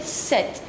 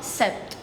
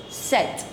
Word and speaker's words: sept: The letter P is silent. Instead you pronounce T. You have to pronounce T, but you don't have to pronounce P. So you say set. It's not sept. It's set.